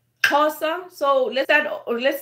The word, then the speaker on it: Xhosa: which is my language it's spelled X H of s a casa okay so casa so let's add or